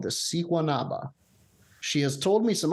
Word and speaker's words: Siguanaba: research on the Siguanaba, which can be spelled with an H or a G. It's Siguanaba, but I think in South American Spanish, that's an H sound.